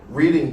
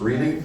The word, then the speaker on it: Reading: But um John, you were talking about um reading Pennsylvania, and one of my first jokes is about being from actually Pennsylvania and Philadelphia. So, I got to correct you here about this reading thing.